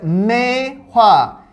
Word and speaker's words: Maehwa: sorry all right goodness chris uh but yes mei hua if you have troubles with that think of